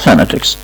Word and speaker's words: phonetics: phonetics، كلمة صوتيات بتنطق phonetics، الاو اللي موجودة هنا ما بتنطقش او، بتنطق phonetics.